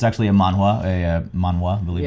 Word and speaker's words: manhwa: But it's actually a manhwa, I believe it's Yeah. pronounced. Yeah, manhwa.